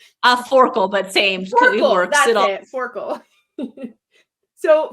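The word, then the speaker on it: Forkle: I say his name right is it Mr farle a forkel but same it forl so for the very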